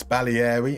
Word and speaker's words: Baglieri: Eko says, "I think you pronounced Baglieri wrong. It's Bali in Italian."